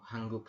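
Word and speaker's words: 한국: robur saya coba masukkan Han Han ditambah dengan gek guk nah ini pakaiya K seperti itu hangguk seperti itu yaun ya kita membahasnya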